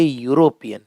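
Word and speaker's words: European: यूरोपियन नहीं कहेंगे, आप कहेंगे यूरोपियन। और यूरोपियन में आपके मुंह से पहले निकलेगा य, तो क्या आएगा?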